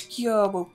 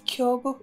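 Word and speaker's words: Gyoubu: But usually when in Japanese it's, like, translated like that, usually the O-U back-to-back are meant to pronounce as long O.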